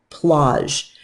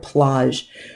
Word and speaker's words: plage: Another thing you're going to see on the chromosphere is plage. Now, here's another word I'd like you to say after me, which is that word plage. Plage rhymes with the word snaz, and that's why I